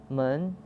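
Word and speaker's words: 们: forms in spoken chinese man is pronounced with light neutral tone look at our examples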